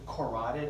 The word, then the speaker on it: carotid: right side notice it's spelled keratin but we pronounce it carotid I don't know why that is but don't